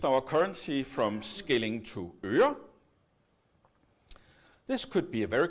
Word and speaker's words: øre: So I would like you to all say øre. No, not øre. No. Let's try again. Øre. Yes, much better.